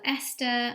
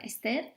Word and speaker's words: Esther: So Esther or Esther, depending if I'm in Spain or here in the UK, my name is English, but it can be pronounced in different ways depending on where I am.